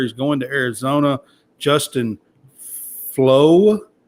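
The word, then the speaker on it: Flowe: going to Arizona Justin flow I think is how you pronounce his last name it's f-l-o-w-e there's an e on it but I still think it's flow um is how you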